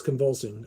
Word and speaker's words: Convulsing: Static Manifestation, and it's convulsing, I think is how you say the name. It's CON. Yeah, it's convulsing.